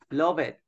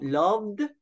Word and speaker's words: loved: right okay so we we avoid pronouncing letter e okay we don't pronounce letter e so we don't say love it or use it yeah so loved used Lov yeah okay very good